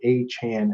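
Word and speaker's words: Achane: has done extensive research to find the correct pronunciation it is a Chan everybody uh whether you like it or not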